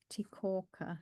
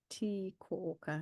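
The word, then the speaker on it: tī kōuka: The cabbage tree leaves, tikorka or tikorka, it's a long E on the T.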